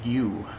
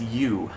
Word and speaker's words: ewe: it should be pronounced you yeah e-w-e but yeah it looks like ewe but it's pronounced as you and that's the female